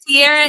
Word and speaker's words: Tiara: Tiarra is how you say it.